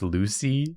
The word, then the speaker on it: Lussi: oh not much better not much better it's pronounced Lucy yeah but I like luy I think it's